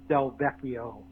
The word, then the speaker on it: Del Vecchio: Oh, and Alex Del Vecchio is how you pronounce his name.